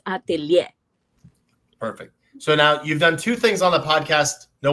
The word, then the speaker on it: atelier: So atelier is a word Atelier. in French that Mm. ends up is ATEIR, right? But the R is not pronounced, so it's atelier.